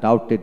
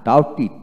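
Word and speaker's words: doubted: তারপর আসেন ডাউটার ডাউটার, তারপর ডাউটিট ডাউটিট, টিডি থাকলে টিট উচ্চারিত হবে, আমরা সাধারণত টেড বলি না, ডাউটেড বলি না, ডাউটিট ডাউটিট, টিট উচ্চারিত হবে।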